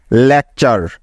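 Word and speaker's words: lecture: তাহলে এই শব্দটির উচ্চারণ কি হবে? LEC লেক এবং TURE চার, লেকচার, লেকচার। দেখলে তো বন্ধুরা, এই একটি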